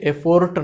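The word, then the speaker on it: effort: Make an এফার্ট মানে কি? চেষ্টা করা, তাই না? এই যে এফার্ট, উচ্চারণটা কি হচ্ছে? এফোর্ট না, কিন্তু আমরা অনেক সময় এফোর্ট বলি, এফোর্ট না, এফার্ট, তাই না?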